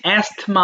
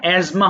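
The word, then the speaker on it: asthma: অ্যাজমা হাঁপানি, দেখো বানানটা ইংলিশ অ্যাস্থমা আছে, কিন্তু উচ্চারণটা অ্যাজমা হবে, এই যে অ্যাস্থমা বানানটা।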